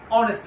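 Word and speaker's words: honest: আবার দ্বিতীয় যে উদাহরণটি সেটি দেখো যে হি ইজ এ অনেস্ট ম্যান। সেখানে কিন্তু আমরা এইচ যে বর্ণটি আছে সেটি কিন্তু আমরা উচ্চারণ করছি না।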